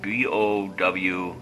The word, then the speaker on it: Bowful: I had been using these Bowful, B-O-W-F-U-L SMDs. They're individually wired SMDs. Bowful rhymes with awful, and that's for sure.